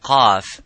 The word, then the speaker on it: ق: So when we pronounce the qaf, we try to pronounce it audibly, and as it is qa, by opening slightly the lips vertically and making that sound and echoing by saying qa.